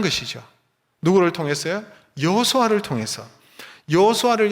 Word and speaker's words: 여호수아: 여호수아를 여러분 신약적으로 발음하면 예수아입니다. 예수아.